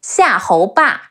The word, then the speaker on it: Xiahou Ba: Ge E Ge, De An Dan, Zhuge Dan, Xiahou Ba, C-E-R, Xia, He Ou, Hou, Be A, Ba,